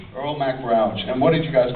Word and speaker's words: Earl Mac Rauch: The writer, how do you pronounce the writer's name? I've never known how to say it. Earl Mac Rauch. Earl Mac Rauch.